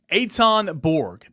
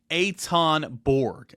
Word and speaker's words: Ethan Berg: It looks like it's spelled Ethan Berg on paper, but the way you pronounce it, Etonborg, uh, again is how